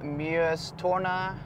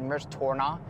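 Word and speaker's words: Mjøstårnet: birmingham we have the beautiful muyas torna i pronounced it really weird in my last video i said mers torna i just misspoke but mersona the tallest wooden building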